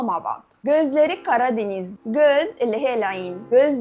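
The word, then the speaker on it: Gözleri Karadeniz: اللي نازله جديد مترجمينها صح ولا لا نتعلم نطقها مع بعض جوزلاري كرادينيز جوز اللي هي العين جوز لاريه عينيها كرادينيز بيشبه عينيها بجمال منطقه البحر الاسود لما نيجي نقول جوزلاري كرادينيز عينها كالبر الاسود فاذا دي ترجمه صح نازل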